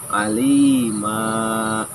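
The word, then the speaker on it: عالمًا: Jangan dialimin, jangan dimatikan, tetapi alima. Ya, kebayang nggak tulisannya alima? ya. A, lima L, ela, ma ya dulu. Ya dulu, alima. Mim, alif. Nah, itu loh. Alima. Jangan malah bacanya alim.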